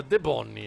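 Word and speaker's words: Debognies: che si pronuncia De Bonni, anzi ci dice il sito ufficiale della manifestazione.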